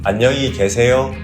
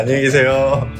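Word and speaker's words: 안녕히 계세요: Ahn-nyung-hee gye-se-yo You have to nod a little? Yeah, Ahn-nyung-hee gye-se-yo Thanks, buddy.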